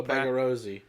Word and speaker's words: Bagarozzi: How do you pronounce the last name? Bagarozzi? Oh, Bagarozzi.